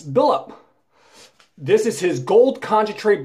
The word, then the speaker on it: Billlp: it's an eBay seller his name is b i l l LP which I pronounce billup this is his gold